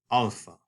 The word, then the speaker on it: alpha: And the letter alpha in Greek makes the long A sound. This is like the A that you hear in the word father, alpha.